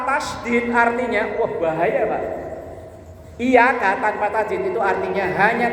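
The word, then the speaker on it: إياك: paling rawan ketika membaca iyaka nabudu wa iaka n yang benar Inya itu kan bertasdid bacanya ditekan iyaka nabudu wa i kalau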